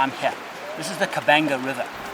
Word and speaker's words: Okavango: This is the Okavango River. Spelt with a B by the Portuguese, it's actually the Okavango River, and it and another